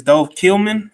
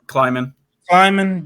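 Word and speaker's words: Dov Kleiman: I think it's Dove Killman. Is that how you pronounce it, Mike G? Kleiman.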